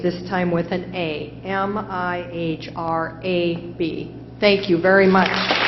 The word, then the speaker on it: mihrab: it is a word from Arabic it is pronounced mihrab want to know a meaning or a sentence